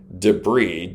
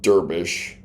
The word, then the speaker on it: debris: because she would mispronounced words like debris. Db r i s. She pronounced it derbish.